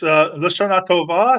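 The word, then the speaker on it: L'Shana Tova: And our friend Pharaoh Cheryl says, how do you pronounce that? It's Lashana Tova.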